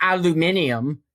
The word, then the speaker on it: aluminium: There is a second I in there. It's not pronounced with just a U.